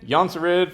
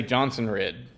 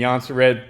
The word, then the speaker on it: Jonsered: the race jonzered for the win yonza red for the win however you want to say it just don't say johnson red or jones of red or johannesburg a lot of people have problems pronouncing that anyways um i'm happy